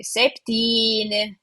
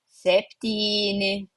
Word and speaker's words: septyni: in their natural habitat they will pronounce it alternative way. They will say septy aštuoni devyni. Septyni aštuoni devyni. So septy versus septyni aštuoni versus 8 versus devyni.